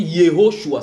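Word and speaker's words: יהושע: Et c'est pour ça que j'ai expliqué dans cet enseignement que en araméen on dit Yeshua. En hébreu on dit Yehoshua. Ça fait 4 syllabes dans un, 3 dans l'autre.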